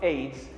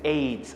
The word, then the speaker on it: AIDS: one word i said aids i didn't say a-i-d-s now let's look at the difference the difference is in the pronunciation aids is pronounced as aids one word cnn is pronounced as